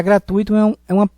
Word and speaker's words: gratuito: Já gratuito ávido é uma proparoxítona, e por isso que deverá ser acentuado a antepenúltima sílaba. Gratuito não tem acento, porque é uma paroxítona terminada em O.